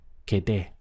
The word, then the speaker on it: quedé: the sound is me quedé. We have just two syllables here, quedé, and make sure that you're stressing this end point, me quedé.